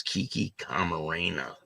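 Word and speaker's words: Kiki Camarena: of Kiki k Marena she said the name wrong but it's Kiki Karena and this is the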